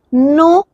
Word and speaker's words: noël: Here when there are two vowels close placed all together, so we put this tréma and we give we put stress on that vowel. This is noël.